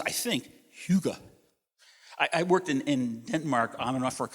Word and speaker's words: hygge: And it's pronounced, I think, hygge.